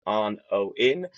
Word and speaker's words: ONOIN: So, it is said exactly how it's spelled. It just looks your brain kind of just confuses it because it looks like the word onion, but it's on O in.